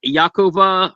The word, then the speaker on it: Yakov: Uh, his handle is Ya Yakova Renewed. Y A K O V Renewed. I'm probably pronouncing that wrong.